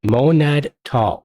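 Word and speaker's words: MonadTall: How do you pronounce that? Monad tall.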